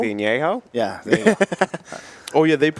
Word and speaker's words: Añejo: How do you pronounce that? Añejo? Añejo?